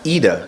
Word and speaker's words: Ida: weather today yes yeah yeah yes and it's pronounced AA correct yes that's right AAA is here uh